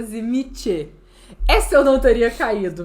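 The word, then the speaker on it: Tzimisce: Grande do Sul, por sua pronúncia correta é Zimiche.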